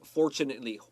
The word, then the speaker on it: fortunately: Look at the word fortunately.